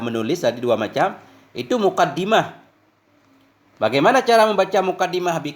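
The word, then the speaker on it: مقدمة: Jadi muqaddimah ini cara bacanya bisa dua. Yang pertama dengan kasrah dal berarti isim fa'il muqaddim. Diambil dari qaddama yang lazim dengan makna taqaddama.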